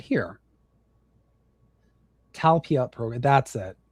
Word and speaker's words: Talpiot: Talpiot program. That's it. Pronounced Talpiot.